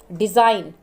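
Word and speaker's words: design: डिज़ाइन, जी को नहीं पढ़ेंगे।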